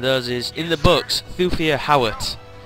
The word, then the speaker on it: Thufir Hawat: The main reason being I mentioned those is, in the books, Thufir Hawat, or Thufir Hawat, depending on how you want to pronounce it, is the mentat to